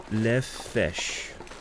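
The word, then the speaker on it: lefse: It's pronounced le fesh. Basically the crepe made by Norwegian people.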